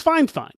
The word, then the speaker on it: Fifine: though their name is spelled f fine it's pronounced fine fine like they were really specific so I'm being